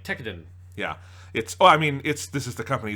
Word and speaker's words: Tekkadan: Yeah, Tekkadan. Which I am slightly annoyed because I did watch one scene from the dub, and they say it wrong, as Funimation shows often do. They say it Tekkadan.